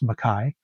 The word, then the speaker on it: McKay: I've mentioned this artist and probably this album before, Nelly Mcai. It's spelled McKay, but it's actually pronounced Mai with her album Get Away from Me.